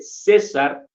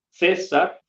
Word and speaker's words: César: mi nombre César eh Aunque tengo una c eh ahí al inicio no no la pronuncio Digamos como c sino la pronuncio como en la s o sea yo mi nombre lo podría escribir lo podría representar Con la s inicial la s en medio y es el mismo sonido por lo menos para